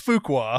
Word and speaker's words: Fuqua: How did you guys pronounce that? I said Antoine Fuqua. And it's Fuqua.